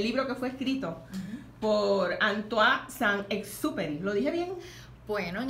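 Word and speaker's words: Antoine de Saint-Exupéry: Esa es la el libro que fue escrito por Antoine Saint-Exupéry. ¿Lo dije bien? Bueno, en español sí, pero en dice español, un sí. Compañero que se pronuncia Antoine Saint-Exupéry.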